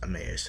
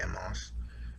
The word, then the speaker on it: Emmaus: Some I think it's pronounced Emmaus. I just say Amos.